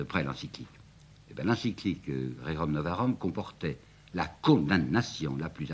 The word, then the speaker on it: Rerum Novarum: c'est la fameuse encyclique que je prononcerai comme on prononçait à ce moment-là, Rerum Novarum, si vous voulez, Rerum Novarum.